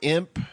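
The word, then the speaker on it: Emp: I mean, he's called Imp, but it's spelled E-M-P.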